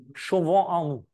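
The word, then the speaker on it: Chauvin Arnoux: I don't know if I pronounce it correctly, but I've learned it's called Chauvin en Nous. Is this right? More or less, how would you say? Chauvin en Nous.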